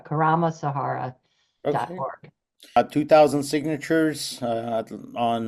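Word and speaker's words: Karma Sahara: go to the website just k a r m a Sahara it rhymes with Sahara Karam Sahara org 2,000 signatures uh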